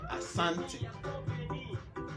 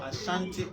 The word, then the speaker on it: Asante: Can I please suggest you change it to Asante instead of the T? Okay, this is because Ashanti is wrong spelling pronunciation by Europeans.